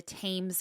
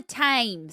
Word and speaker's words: Thames: south bank of the Thames River. And we've talked about the Thames before, and I want to call it Thames, because that's how it's spelt, but I looked it up and it's Thames.